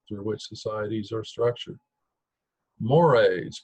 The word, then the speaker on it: mores: which societies are structured mores pronounced like the Moray Eel moral views and principles these are more important norms typically mores can blend into its